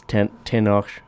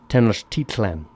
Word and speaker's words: Tenochtitlan: It's well, it's actually not. That's not quite right. I said it wrong. I believe it's Tenochtitlan. Tenochtitlan.